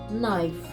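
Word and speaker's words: knife: ніж який нам знадобиться це найфв Кейп пишеться але не читається знайде пересипаємо гриби сіллю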